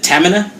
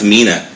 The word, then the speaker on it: Tamina: you say her name is it tamanna not Amina is it like stamina yeah establish she's got a